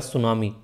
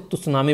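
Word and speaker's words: tsunami: लिखा हुआ है सुनामी, इसमें टी आप लोगों को साइलेंस देखने को मिलता है, वरना इसको तुसनामी बोलते हैं। ठीक है, जब पहले कोई पढ़ता नहीं है, मतलब एक तरीके से जो किसी से सुनता नहीं है, तो नॉर्मली पढ़ेगा कि हाँ तुसनामी। ठीक है, पर पढ़ता है तो पता चलता है कि हाँ सुनामी है।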